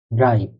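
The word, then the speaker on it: drei: আরেকটা random word দিই, এটা উচ্চারণ কি হতে পারে। হলো ডে ইয়া এ ই, ড্রাই।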